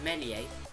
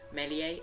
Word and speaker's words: Meslier: We got Ilan Meslier, or Melier. I don't know how you actually say his name. It's a French name. Melier, I think that's what they call him. The S doesn't actually, isn't actually pronounced.